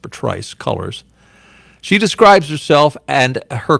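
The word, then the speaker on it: Patrisse Cullors: thought it was patrice but apparently it's actually pronounced patrice colors she describes herself and her co-founder alicia garza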